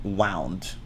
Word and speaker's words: wound: whatever but it has it has a different pronunciation from the verb uh the verb form wound it's like i wound up my arm too much and i got a wound um how it's like